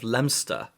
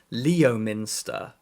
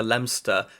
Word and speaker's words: Leominster: I I grew up near the town of lemster which is spelled Leo Minster and I've met a lot of people in England who've never been to lemster who think it's pronounced Leominster so it might